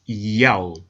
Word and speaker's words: Yahweh: In order to help the reader pronounce God's name correctly, they transliterated the Most High's name with the Greek characters iota, alpha, omega, written in Greek, pronounced Yahweh.